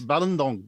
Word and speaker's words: Balindong: It's Balindong, by the way. Okay. I think you're right. I think most of us will probably pronounce that incorrectly.